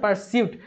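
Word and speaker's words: pursuit: পারসিউট উচ্চারণ করে আমরা পারসিউট, কিন্তু যখন আমরা লিখতে যাবো তখন পারসুইট হিসাবে লিখতে হবে, যে SUIT, ঠিক আছে? বা পারসুট বললেও হবে।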